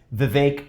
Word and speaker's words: Vivek: It's Vivek like cake, Ramaswamy.